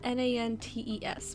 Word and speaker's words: Nantes: It's spelled Nantes, but they were saying Nantes.